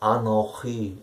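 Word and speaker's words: אנכי: Die dort benutzte Variante des Wortes Ich, also nicht Ani, sondern hier wird es Anochi ausgesprochen und geschrieben, noch mit einem Chaf, Chaf zwischen dem letzten und dem vorletzten Zeichen.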